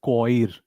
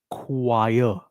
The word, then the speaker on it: choir: A lot of people pronounce this as coir or choir. It is not coir or choir. It is choir.